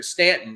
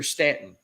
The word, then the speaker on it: Staunton: influence and they're they're stanton this pronoun you know it's it's spelled staunton but it's pronounced here stanton and there's little nuances